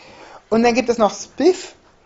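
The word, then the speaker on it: XSPF: dann gibt es noch spif tatsächlich so spricht man das laut dem Wiki aus gut das ist ein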